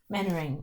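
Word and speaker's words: Mainwaring: Manoring.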